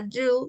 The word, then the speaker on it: do: sabemos la o en la palabra do suena como una u y obviamente la palabra